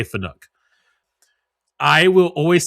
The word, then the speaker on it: Fanuc: It's always going to be Fanic to me. I'm never going to say Fanuc.